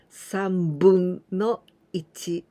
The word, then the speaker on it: 分: And you must be very careful with the pronunciation with this kanji. If only this one, 3分, it means 3 minutes. But in the fractions, we always pronounce with 分. 3分の1, 1/3.